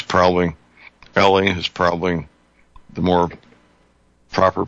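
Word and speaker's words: Eley: There's this, the Olympic grade stuff comes out of England, and I've heard it pronounced Ellie and Eli. I think it's probably Ellie is probably the more proper pronunciation.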